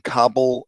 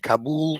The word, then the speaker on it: Kabul: outside the airport in kabul i mean i went from pronouncing kabul to kabul because that's what most people do i'm i feel like